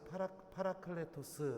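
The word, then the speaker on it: παράκλητος: 이 크리스 말을 보면요 알로 쓰 파라파라 카레 토스 라고 이렇게 됩니다 이거 어려운 말 썼는데 아 이렇게 발음 하는구나 이렇게 알고 계시면 되요 여기서 허하라 라는 하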